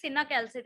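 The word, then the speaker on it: cinacalcet: Matlab, he has not pronounced it correctly. It is cinacalcit actually.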